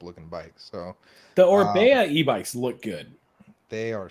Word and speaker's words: Orbea: It's a Man, surprise, but it rhymes with Bea.